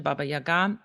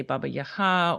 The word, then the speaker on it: Baba Yaga: That pronunciation Baba Yaga is a Russian pronunciation and we use it in America.